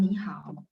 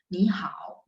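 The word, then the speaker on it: 你好: Jadi kalau misalnya ketemu tiga, maka depannya berubah bacanya jadi nada 2. Ni hao gitu ya, san.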